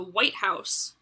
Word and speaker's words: White House: the compound word so when you say the white house and you put the emphasis on the word white english speakers recognize that